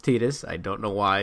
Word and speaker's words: Tidus: It's pronounced Tidus. I don't know why. It looks like it's said Titus, but it's really?